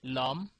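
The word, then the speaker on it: l'homme: front of a vowel Ash simply means silent h we have nouns like that in French which begins with a silent h like um um uh so in this case it will be Lum or Luma we pretend we pretend as if Ash didn't exist so it will be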